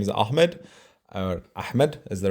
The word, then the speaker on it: Ahmed: my name so my name is Ahmed or Ahmed is the right way to say I already